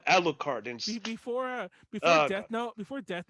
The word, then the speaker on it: Alucard: went into town say defending his name is not alucard it's aru card i was like oh god that guy says annoying just because they pronounce it that way in the show but the guy you know the guy who wrote it he he called him alucard and before uh before